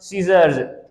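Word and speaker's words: scissors: muscle ठीक उसके बाद सीजर्स सी सीर एस सी एस सी यहां पर सी साइलेंट है सी एस आई सीजर यहां सी जो बीच में आती है वो साइलेंट ही रहती है उसके बाद एसन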